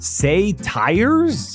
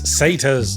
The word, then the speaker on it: satyrs: jar it's pronounced Anar say tires it's satas okay I think I